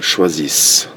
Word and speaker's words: choisissent: Ils choisissent. Okay, you do not pronounce ENT at the end of the verbs.